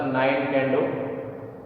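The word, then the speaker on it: Nintendo: खेला जाता है, तो उसको निंटेंडो कहते हैं, उच्चारण उसका निंटेंडो।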